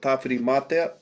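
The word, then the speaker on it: Tāwhirimātea: If you don't know how to say it, but you know how to spell it, there we go. Kia ora, kamo. We've got tāwhiri mātea.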